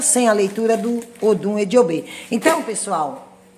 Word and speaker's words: Ejiogbe: E quem tem o Odum Ejiogbe, que é pronunciado o Odum Ediobê, então a oferenda a Exu para que esteja bem preparada para alcançar seus objetivos.